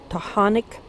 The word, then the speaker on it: Taughannock: waterfall and this one I believe is pronounced to Hanukkah false and all these